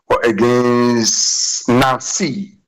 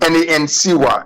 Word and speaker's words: Nancy: Well, my first professional goal for AS Monaco was against Nancy. That's the N-A-N-C-Y. The pronunciation in English is Nancy, but in French it's Nancy.